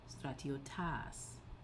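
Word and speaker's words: στρατιώτας: Then the dative goes back to normal, acute on the penult, so stratiotais, and the accusative acute on the penult, stratiotas.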